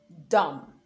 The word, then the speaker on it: dumb: Now, the B is silent when it comes after the letter M. So you have comb, climb, thumb, dumb, even in plumber.